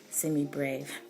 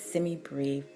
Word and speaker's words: semibreve: to say also that I have been saying semi brave I just like saying degree but it's semi brief I believe that's the accepted pronunciation so just know that